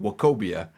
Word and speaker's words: Nwokobia: I had to stop there and remember, you don't pronounce the N. It's just Nwokobia out of SMU.